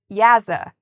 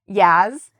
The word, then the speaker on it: yaza: In Mandarin, the word for duck is yaza. How do I remember this? Well, I imagine a duck playing jazz music. So I think jazz sounds like yaz, yaza.